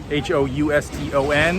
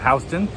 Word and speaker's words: Houston: a certain point and that's uh houston or h-o-u-s-t-o-n in new york city we pronounce that houston it's built the same as houston now in 1811 it